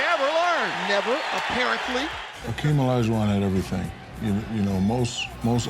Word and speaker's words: Olajuwon: For those of you at home who don't know, Hakeem Olajuwon, am I saying it right? Olajuwon, yes.